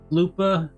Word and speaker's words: Loopa: Loopa rhymes with Koopa.